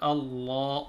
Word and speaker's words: Allah: We have to tell them the back of their tongue should be hitting or touching the top of the mouth. Allah, Allah.